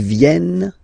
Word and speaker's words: viennent: E-N-T, you don't pronounce them. Ils viennent, elles viennent.